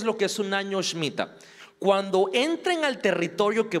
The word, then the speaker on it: Shemitah: Porque el 2022 es un año Shemitah, así se dice, o para nosotros, Shemitah, pues, pero se pronuncia Shemitah sin la E.